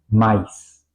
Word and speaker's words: Mais: Aquí vamos a ver un ejemplo muy bueno, como por ejemplo en alemán se dice mais, ¿ok? Vamos a pronunciar la A y la I juntos, mais.